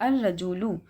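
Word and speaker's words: الرجل: मतलब ये लाम जो है साइलेंट कर देंगे। हम कैसे पढ़ेंगे? अल रजूलु। ठीक है? हमारा जो वर्ड है अल रजूलु। अब हम इसको अल रजुलू तो नहीं पढ़ सकते थे ना।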